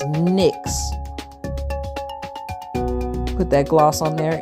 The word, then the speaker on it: NYX: My lip plumper by NYX NYX is pronounced NYX.